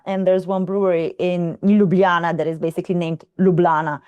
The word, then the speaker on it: Ljubljana: So, officially we say Ljubljana with all the J's that we pronounce as Y's, but the locals would just say Ljubljana. Ljubljana.